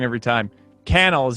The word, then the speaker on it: Cannell: it wrong every time canal is how you actually say it right sean cannell rhymes with youtube channel nice that's that's it